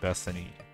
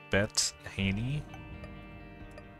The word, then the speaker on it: Bethany: say that that's a good run though unlocked bethany can't wait to play as bet haney what i mispronounced her name word anyway enough dumb talk